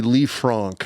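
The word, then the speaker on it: Lisfranc: The technical pronunciation, it's a leaf franc fracture coupled with a distal fibular fracture as well.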